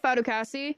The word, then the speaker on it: Fatukasi: this word to fif fatukasi is that how you pronounce his last name f fasi yes okay um he visited with